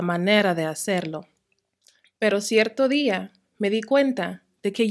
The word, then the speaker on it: día: However, the words on the right do have that accent mark. They are pronounced with a strong stress on that I sound. Parecía, caía, veía, día.